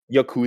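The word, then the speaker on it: やくざ: like why do they accentuate the second syllable? That's not how it works. When it comes to most Japanese words, I feel like the majority, you always accentuate the first syllable.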